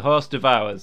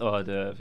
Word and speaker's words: hors d'oeuvre: The horse devours, yes. Pronounced hors d'oeuvre, yeah.